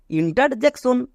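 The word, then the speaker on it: interjection: ওয়ার্ডটিকে উচ্চারণ করতে গিয়ে অনেকে একে জাক উচ্চারণ করে একদম ভুল আমরা এই ভুলটা করবো না next T আই ও এন এর জন্য সন তাহলে পুরোটা কি দাঁড়ালো ইন্টার জ্যাক সন এবার একে একসাথে উচ্চারণ করো ইন্টারজেকশন হয়ে গেল এইভাবে করে আমার মতো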